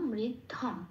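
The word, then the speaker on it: ঋদ্ধং: অনুস্বরটা শব্দের শেষে আছে, সংস্কৃততে অনুস্বরটা আমরা কি হিসেবে উচ্চারণ করি? 5 নম্বরে তালিকাভুক্ত করে দেওয়া আছে, ময় হসন্ত হিসেবে উচ্চারণ করি, সেই জন্য হয়ে যাবে ধম। তাহলে হলো পত্ন মৃদ্ধম।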